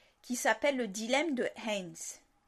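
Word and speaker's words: Heinz: un psychologue social, qui s'appelle le dilemme de Haynes. Haynes, je crois que ça s'écrit comme la bière, H-E-I-N-Z.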